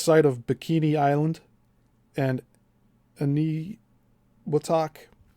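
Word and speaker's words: Eniwetok: for interest, the test site of Bikini Island and Ani Watak. And that's a that's spelled E N I W T O T O K.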